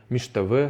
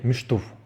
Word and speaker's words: шта: вот в разговорной речи вы услышите от человека не Шта вот штв да то есть как правильно как это правильно пишется да то есть вот это правильный ответ вы услышите скорее шту то есть именно вот разговорное речи люди говорят шту шту хаш Да То есть